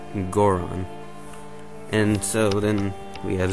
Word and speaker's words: Goron: is godon um but in japanese the o sound um many times will indicate these the um like the the uh soft ass o sound in um english as in gore on so i'm pretty sure it's goron and so then we